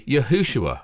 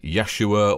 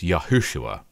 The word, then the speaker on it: Yahushua: in the New Testament Jesus name is actually yahushua some people say Yeshua or Yeshua that's fine different languages find different sounds easier to pronounce but the full name is yahushua one reason we always